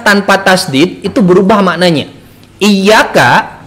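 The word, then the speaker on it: إياك: Iyyaka tanpa tasdid berarti jadi iyyaka. Apa artinya? Iyyaka itu artinya dewa matahari.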